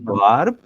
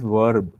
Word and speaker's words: verb: because this is not verb this is verb so there is a difference between the B and V sound so in Bengali we